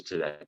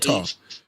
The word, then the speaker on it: Thoth: So Lord Thoth. The H is silent.